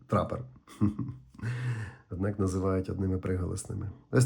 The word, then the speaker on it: TRPPR: До речі, компанія так і пише в описі, що слід вимовляти це трапер.